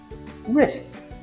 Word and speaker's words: wrist: The rule, W is silent when it comes before R. Why? Well, this one has Germanic roots. We used to say the W and English speakers dropped it because R was strong enough on its own. You know these ones. They're very common. Right. Wrong. Wrist. Memory trick. Waits in silence. R does the talking.